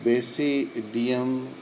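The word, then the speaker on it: basidia: Place होता है इन बेसिडियम producing 4 बेसिडायोस्पोर्स होते हैं। द बेसिडायोस्पोर्स आर exogenously produced on बेसिडियम बेसिडिया इसका मैंने प्रोनाउंसिएशन होता है बेसिडिया are arrange in fruiting bodies called बेसिडियो scrap होता है।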